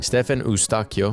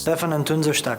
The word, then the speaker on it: Eustáquio: Stefan Eustáquio, actually it's pronounced Stefan Eustáquio.